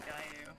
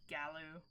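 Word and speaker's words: Gallu: last one was the Gayu. I don't know why I pronounced that with the Y. Galu. Just seems like it should be pronounced with the Y sound.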